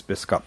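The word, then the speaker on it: Bisschop: that doesn't spell bishop my proper pronunciation of my name is bisca but the actual translation for it from Dutch to English is bishop and our family's been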